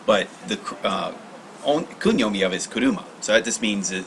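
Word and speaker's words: 車: kanji is pronounced that that kanji is pronounced kuruma as a as a kunyi so that's the reason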